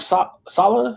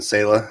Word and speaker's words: Saleh: I think a lot of that was because of Robert Saleh. Is that how you pronounce it?